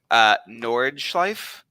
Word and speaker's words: Nordschleife: I'm gonna butcher how to pronounce this. Nordschleife?